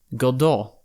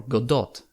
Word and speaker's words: Godot: a primary coding language godo or Godot depending on the pronunciation a pretty new player